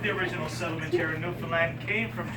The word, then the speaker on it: Newfoundland: and it is pronounced Newfoundland. Not Newfoundland or Newfoundland.